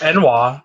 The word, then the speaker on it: ennui: You said it's pronounced Enwa.